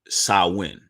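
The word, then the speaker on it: Samhain: it wrong it's spelled shame hang but it's pronounced salwin all right so when the tradition it goes the Festival of xiaowin Mark the transition to the new year at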